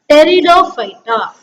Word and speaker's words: Pteridophyta: Here P is silent. We have to pronounce this as Pteridophyta.